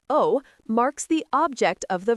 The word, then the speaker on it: を: The particle wo, pronounced o, marks the object of the verb.